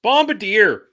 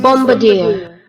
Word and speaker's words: Bombardier: It's Bombardier. It's Bombardier. It's Bombardier. It is Okay, I'm going to make it pronounce it. Bombardier. Oh! Bombardier. Where's this? Who's Bombardier.